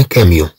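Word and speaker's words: camion: طبعا ممكن أن سي تنطق ككا إذا كانت مثلا إذا كانت متبوعة بأ، مثلا نقول أن كاميون يعني شاحنة، أن كاميون، نقول مثلا أن كاميون أن كاميون. إذن طبعا سي أ تنطق ك.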